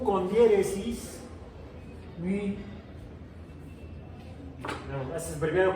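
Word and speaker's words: μ: No hago cómo se escribe el símbolo, pero esto es la Mi y la que sigue la Mi. Así es como se debería pronunciar. Todo el mundo le dice Mu como la vaca y Nu.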